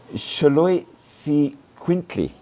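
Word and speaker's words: Xoloitzcuintli: Anyone wants to give a go at pronouncing that? I'll take that as a no. Shaloy quintiquint mostly called a sholo for obvious reasons.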